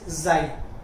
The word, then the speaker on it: chi: अब देखो यार, इसे ची मत बोलने लग जाए ना, बच्चे ची करने लग जाते हैं, या काई बोलने लग जाएंगे, ची वाले ज्यादा होते हैं, बट the correct pronunciation is जाई। ठीक है, आपको क्या बोलना है, इसे जाई।